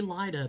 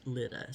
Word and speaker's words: Lyda: her name is l-y-d-a-litta it looks like it should be lighter but I looked it up on the Google and Google said that it was pronounced Lita so that's the way I pronounced it during this during